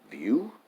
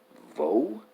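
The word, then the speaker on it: Vaux: that that's probably pronounced view or you know vo I don't know but I know you don't pronounce the X uh but elsewhere I've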